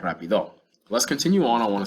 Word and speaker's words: rápido: I didn't mention earlier that rápido, I fixed it for me, has an accent on the A.